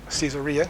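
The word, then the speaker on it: Caesarea: He is eventually taken to Kaiseria Cesaria some would pronounce it uh for trial before the Roman and Jewish authorities.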